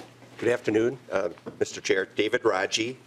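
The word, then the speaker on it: Radziej: David Raji. Raji is spelled R-A-D-Z-I-E-J.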